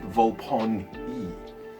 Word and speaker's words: Volpone: So there we go, my Volpone and my Volpone are complete. And I have just been informed while recording this video that in the audiobooks, Volpone is pronounced Volpone-e, so that's where it comes from.